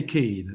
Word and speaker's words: Kade: Richard Cade. K A D E. K A D Richard Cade. Richard Kad Cade. We can say Cade. That's how most of us here pronounce pronounces his name.